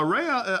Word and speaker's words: Rea: name yeah so it's the last name is pronounced re then it's r e a so the spelling